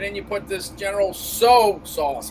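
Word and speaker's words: Tso: you put this general soa sauce how do you pronounce it general so it's not tiso right right right a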